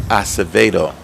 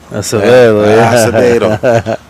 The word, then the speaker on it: Acevedo: Or I'm going to say it right, Acevedo. Acevedo.